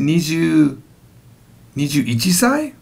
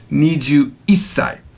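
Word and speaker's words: 二十一歳: Is it Niju Ichisai? No. Because remember, it's no, there's no such thing as Ichisai. It's Niju Isai.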